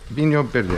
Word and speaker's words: Vinho Verde: and have it at the ready this is Vinho Verde being your biddie I pronounce it Portuguese wine green wine green isn't